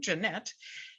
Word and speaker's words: Jeanette: It kind of rhymes with my name, Jeanette.